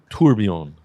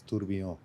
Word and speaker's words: Tourbillon: I'm like the only one in my family that doesn't speak French, but I think it's Tourbillon. Yeah, the L is silent for sure, and all that.